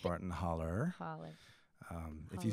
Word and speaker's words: Barton Hollow: Alabama state line and it is properly pronounced Barton holler holler um if you said Barton Hollow back where I'm from